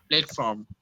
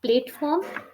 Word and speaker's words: platform: more practice okay last word for pronunciation please pronounce it platform not plateform PL open your mouth platform platform plat right